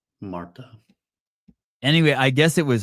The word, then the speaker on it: Martha: Yeah, It's spelled Martha, but I guess the H is silent where she's from. Marta.